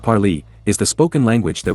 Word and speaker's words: Parley: Parley, pronounced Parley, is the spoken language